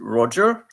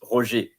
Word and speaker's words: Roger: And in English it's Roger, but in French it's Roger, G-E-R.